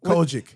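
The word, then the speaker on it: COGIC: Cojic. Cojic. He said it right. Y'all would have been judging him if he said it the other way off the air.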